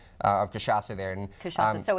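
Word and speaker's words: cachaça: Kashasa, three syllables.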